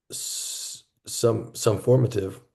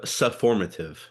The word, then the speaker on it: sufformative: Um, but I also see the some formative. Is that how you pronounce it right? Some formative or summative? So sufformative.